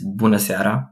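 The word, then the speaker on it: bună seara: and italian of course it's bunasera which is very much like bonacera now actually romanian is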